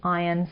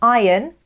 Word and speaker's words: iron: To strike while the iron's hot. An iron, careful of the pronunciation there, not iron, silent R, iron, is